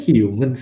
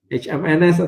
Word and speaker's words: HMNS: Oh itu sebutnya Humans ya. Oh gue pikir selama ini kayak HMNS atau apa gitu.